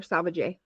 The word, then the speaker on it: Salvaje: First of all, Shaun, is your last name Salvaje or Salvaje?